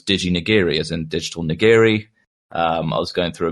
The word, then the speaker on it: nigiri: Um, and so they didn't know how to pronounce niggeri.